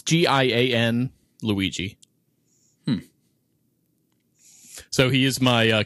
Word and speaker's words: Gianluigi: Gianluigi. We took all that time for you to say John Luigi. John Luigi. It's G-I-A-N Luigi.